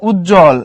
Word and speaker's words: উজ্জ্বল: এখানে উজ্জ্বল, এখানে একটা বর্গীয় জ তারপরে আরেকটা বর্গীয় জ, তার নিচে বফলা, তাই বফলার উচ্চারণ হবে না।